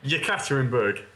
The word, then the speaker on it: Yekaterinburg: So, Andrewski, you went to Ekaterinburg, is it? How was that for pronunciation? Yekaterinburg.